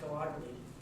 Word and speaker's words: Gallagher: And then Gallagher, it's actually pronounced Gallagher, but as somebody was saying earlier, it's hard to say.